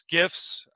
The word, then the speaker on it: GIF: they it's like one of the most famous gifts uh gifts guys how do you say that